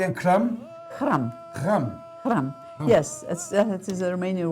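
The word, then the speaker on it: hram: How do you pronounce that again? Kam.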